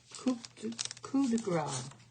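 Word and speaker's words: coup de grâce: But, oh, then we have the coup de grace. I know not to pronounce that P.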